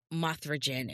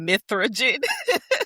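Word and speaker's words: Mithra Jin: need to go see Mothragen in person. Mithragen. And I was like, don't call that man Mothra. I said it wrong. Mithragen.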